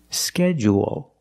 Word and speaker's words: schedule: both pronunciations we end with a dark L because the L is after a vowel at the end of the word schedule schedule what is longer schedule and it has an extra sound it's not like pool and cool it's schedule there's an extra vowel there or you can make it short and say schedule schedule also we notice the DU making the J sound like in juice and jump JJ schedule or schedule